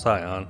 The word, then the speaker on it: Sion: It's pronounced Scion, actually.